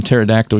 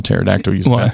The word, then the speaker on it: pterodactyl: never hear a um pterodactyl use a bathroom that's our questions pterodactyl don't actually maybe unrelated though they're close relatives well you don't ever hear a pterodactyl because the p is silent Phil that's good stamp